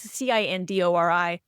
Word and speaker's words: Cindori: And I guess you pronounce the company's name Sindori. It's Cindori.